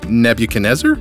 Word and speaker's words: Nebuchadnezzar: Nebuchadnezzar hold up what Nebuchadnezzar oh yeah that's gonna be hard to remember let's see rhymes with Ned can you taste her or never can desert oh I got a